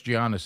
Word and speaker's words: Giannis: Yes, Giannis. That's what it is. Adler. Okay, who cares? That's how you spell it.